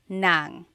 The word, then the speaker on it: ng: And then if you want to add an object the sentence marker here is n g nang.